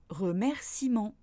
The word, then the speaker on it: remerciement: Deuxième cas de figure, le E ne se prononce pas quand il est après une voyelle, par exemple remerciement. Et enfin, dernier cas de